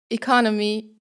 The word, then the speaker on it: economy: My favorite example is the word economy and economics in English. You would think that the stress is the same, but no, in the word "economy" the stress is on the second syllable, and in the word